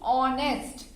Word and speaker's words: honest: First speak with me, honest. In this H is silent.